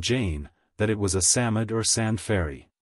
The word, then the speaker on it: Psammead: that it was a Samad or sand fairy Samad is pronounced Samad it was old old